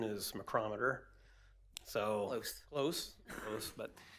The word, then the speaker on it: McCrometer: um he's not here so uh the correct pronunciation is macrometer so close close close but anyway this resolution is is to allow the city manager of course to enter into a contract with mccrometer Incorporated and for monitoring services on our sanitary